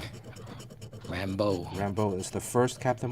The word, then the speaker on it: Rambeau: How do you pronounce it? Rambeau.